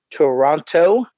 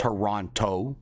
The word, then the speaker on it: Toronto: say Toronto again please Toronto all right American please don't say it like that it is not Toronto it is Toronto say quickly Toronto yes your honor Toronto ouch oh that's it not Taranto story hey you know